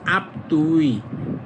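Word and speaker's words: 앞뒤: এই দেখেন আপ অর্থ সামনে থুই অর্থ পিছনে যখন এটা একসাথে উচ্চারণ করবেন তখন হবে আপতুই আপতুই এইযে দিটা তখন দুইবার উচ্চারিত হবে তখন হবে আপতুই মানে সামনে পিছনে আবার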